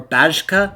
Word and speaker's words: Szarabajka: I know I'm going to mispronounce his last name. Zarza Barjka? Or Bajka?